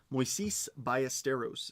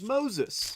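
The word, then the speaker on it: Moisés Ballesteros: Mois Bisteros is the correct pronunciation of his name. And there are many breakers who just oh it's Moses. It's like, no, it's not.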